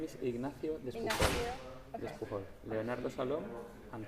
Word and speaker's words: Ignacio: Ignacio.